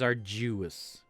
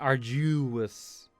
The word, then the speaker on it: arduous: and grab a drink interesting how she pronounces arduous because i have almost always heard is our juice like juice our juice like i do actually pretend arduous yeah it's it's arduous